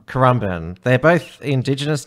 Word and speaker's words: Currumbin: in carbon and obviously to work on your pronunciation there just like that spawned amber band amber and we call it Caramba Currumbin they're both indigenous names are they I'm sure